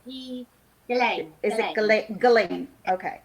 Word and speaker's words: Ghislaine: Is it Giselle? Oh, it's a Ghiaine. Yeah. It's Ghislaine.